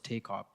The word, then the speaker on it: TKOP: Its acronym's TKOP and pronounced as TAKOP.